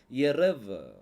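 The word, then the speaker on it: ערב: pronounce பண்ணனும்னு சொல்லி பார்க்கலாம் கடைசி எழுத்து பெத்து தான் ஆனா புள்ளி இல்ல அப்ப இதை எப்படி உச்சரிக்கணும் வெத் வ சவுண்ட் வரணும் அப்ப இதை எப்படி உச்சரிப்பீங்க எரவ எரேவ் எரேவ் அப்படின்னா அதுக்கு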